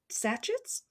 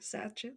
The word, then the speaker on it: sachets: in the 1920s his sachets is that how you say it made it's that one it's like essay c-h-e-t satches sachets made of gauze and